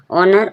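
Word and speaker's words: honour: तो ओ से पहले एन आर ओ से पहले एच आ रहा है। एच साइलेंट है। एच का कोई साउंड नहीं आ रहा। ऑनर।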